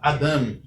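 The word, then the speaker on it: אָדָם: A única exceção é a palavra Eved, que tem a sílaba tônica na penúltima sílaba.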